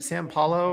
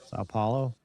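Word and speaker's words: São Paulo: Uh were they at San San Paulo or Sao Paulo?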